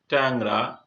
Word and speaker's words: ট্যাংরা: দ্বিতীয় নিয়ম, আদ্য এ এর পর উম বা অনস্বর থাকলে সেই এ সাধারণত একার রূপে উচ্চারিত হয়ে থাকে। যেমন ট্যাংরা, এখানে টয়, এখানে একার আছে, তারপরে অনস্বর রয়েছে, এই জন্য এটা একার রূপে উচ্চারিত হয়েছে ট্যাংরা।